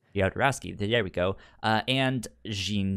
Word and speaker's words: Jodorowsky: Apparently, Alejandro Jodorowsky, I don't know how to say his last name. Jodorowsky, there we go.